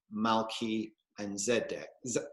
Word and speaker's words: Melchizedek: actually two words um i would pronounce it malki and zedek malki and zedek that's right malki and zedek which translates loosely to king of righteousness i'm going to talk